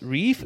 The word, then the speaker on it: Reif: Her name is Rose Reif, if that's correct I'm pronouncing it.